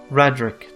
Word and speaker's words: Raedric: Radric, that was the way they pronounce it, Radric.